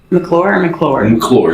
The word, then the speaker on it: McClure: McClure, you said it right.